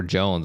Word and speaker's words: Joens: okay and uh somehow an e was thrown in there at some point through history and now we're we're Jones and so the hardest part is anytime anybody asked my name I have to spell it to them I have to say it's j-o-e-n-s they're like why what